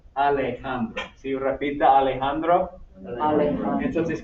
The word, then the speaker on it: Alejandro: La J suena como la H en inglés. So, Alejandro, Alejandro.